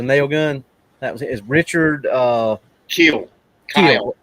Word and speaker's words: Kiel: That was Richard Keel. Keel. Kiel. Yeah. Yes, I think it's pronounced Keel. I think, but yeah.